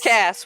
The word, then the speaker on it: Cass: It's the Cass blasters. That's Cass with a hard C.